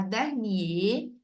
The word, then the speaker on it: dernier: vêtements le mois dernier alors là on ne prononce pas le r on va dire le mois dernier vous AZ des vêtements